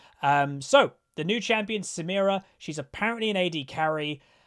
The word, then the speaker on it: Samira: himself uh going over samira the new champion and i did get the pronunciation right because that's what she says in the cinematic uh we're gonna go